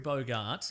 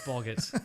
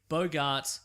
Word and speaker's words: Bogart: Mexico and it's hungrey Bogart yeah and somebody else who I can't Rec it's not pronounced bogot how dare you God